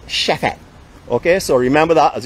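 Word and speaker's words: Chefette: Alright, so if you come to Barbados, you want to talk Bajan, you have to call this Chefet. Chefet, okay? So that is the correct pronunciation for it. Not Chefet, it's Chefet.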